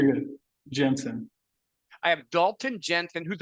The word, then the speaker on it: Jensen: Jensen.